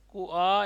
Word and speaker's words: कुआं: कुआ या कुआं? कुएं पर एगली या कुएं पर एगली? हाँ ये कुआ है। कू तो हल्का हल्का है, आ पर जोर लेना, कुआं।